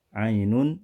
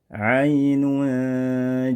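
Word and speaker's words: عين: dan kita latih bersama Ainun jariah Ainun jariah tanwinun pada kata Ainun dibaca dengan hukum ikhfa dibaca dengan samar-samar pertengahan mengambang antara bunyi izhar dan Gham dibaca izhar tidak dibaca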